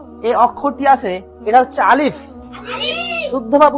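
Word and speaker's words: ألف: এই অক্ষরটি আছে এটা হচ্ছে আলিফ। শুদ্ধভাবে উচ্চারণ করতে গেলে হাওয়াটা বের হবে।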